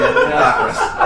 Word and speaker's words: Lapras: Or like Lapras or something. Yeah. I feel like I pronounced that right. Anyway. Yes, you did. Lapras.